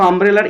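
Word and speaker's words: umbrella: দেখো আমব্রেলার ইউ, ইউ এর উচ্চারণ যদি ইউ এর মতো হয় এ বসবে, ইউ এর মতো না হলে অ্যান বসে। আমব্রেলা উচ্চারণ আমের মতো হয়েছে, ইউ এর মতো হয়নি তাই অ্যান বসে গেল।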